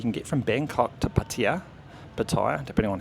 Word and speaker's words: Pattaya: So you can get from Bangkok to Pattaya, depending on how you want to pronounce it, Pattaya.